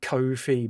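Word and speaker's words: Ko-fi: themselves actually pronounce it coof fee because it rhymes with no fee yeah I've heard that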